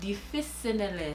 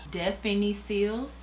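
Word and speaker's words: Définicils: Difficile. Let's put it in Google Translate and she'll say it for us. Okay, I definitely said it wrong. Listen to this. Definiciles.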